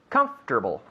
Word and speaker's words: comfortable: to wear something comfortable comfortable comfortable yeah three syllables comfortable comfortable repeat the